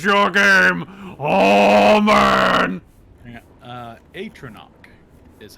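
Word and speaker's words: Atronach: as you unpause your game oh man uh atono is how it's pronounced oh cool oh boy I'm going to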